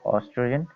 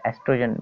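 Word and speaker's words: oestrogen: One is estrogen and second is progesterone. Okay, or estrogen mainly is called. Okay, O is silent in this.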